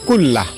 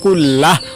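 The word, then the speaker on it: كُلَّهُ: আল্লাহুম্মা গফিরলি যামবি কুল্লাহ। আমি আবারও বলছি, আল্লাহুম্মা গফিরলি যামবি কুল্লাহ। লাস্টে হা উচ্চারণ, কুল্লাহ অথবা কুল্লাহু এভাবে পড়বেন।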